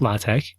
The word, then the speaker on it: LaTeX: He he said even though it looks like sort of like the word latex, it's pronounced lat.